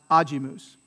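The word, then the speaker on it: agimus: anti-penultimate is it ajimus or ajimus so it's ajimus is it gloria or gloria right and it's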